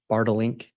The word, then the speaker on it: Bartelink: And am I saying that correctly? It's Bartelink? You pronounced it perfectly.